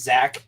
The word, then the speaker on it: Zac: It's spelled Z-A-C. His parents might have been the weirdos that just named their kids Zach, and there is no extra. It's not Zachary. It's not Zachariah. It's Zach. Thank you.